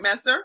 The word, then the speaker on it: Messer: candy candy Messer and am I saying it right Messer yes okay candy Messer is a